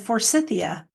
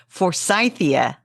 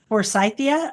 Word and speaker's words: Forsythia: And it is F is for And you said for Cythia.